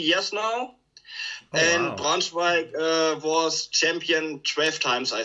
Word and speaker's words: Braunschweig: And now you live in, how do you pronounce that, Braunschweig? Braunschweig.